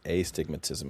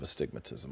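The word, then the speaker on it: astigmatism: You pronounced it aigmatism instead of a stigmatism.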